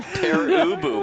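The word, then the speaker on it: Pere Ubu: don't know the name it's pronounced per ubu and you know so find it if you can but it was it's probably it sounds german yes me a rock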